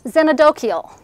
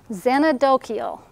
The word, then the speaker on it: xenodochial: So, can you pronounce it for us? Oh, xenodochial. Xenodochial.